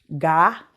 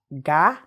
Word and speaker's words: ga: Ga. Ga is go. Ga. Ga. Ga. Remember, the alphabet that follows the first word changes the sound.